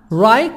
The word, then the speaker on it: right: right now until now right GH silent right now and now